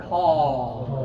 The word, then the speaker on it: call: have dinner ah okay call that sound is like a but from the middle of your throat instead okay a this